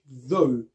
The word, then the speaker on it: though: Le TH se prononce également de cette manière dans le mot though.